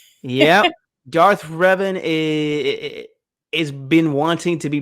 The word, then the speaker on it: Revan: Darth Revan. Darth Revan. I was gonna say Raven.